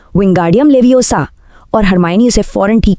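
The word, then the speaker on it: Wingardium Leviosa: रॉन चिढ़कर मंत्र बोलता है विंगार्डियम लेवियोसा। और हरमाइनी उसे फौरन ठीक करती है। अरे लेवियोसा नहीं इसका उच्चारण है विंग गार्डियम लेवियोसा।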